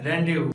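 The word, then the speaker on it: rendezvous: Friends सिर्फ एक ऐसा वर्ड है जहाँ पर जेड साइलेंट होता है और वो है रेंडेव।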